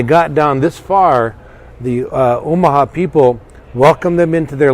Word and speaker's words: Omaha: the Omaha tribe with the Omaha second syllable stress Omaha tribe contributor probably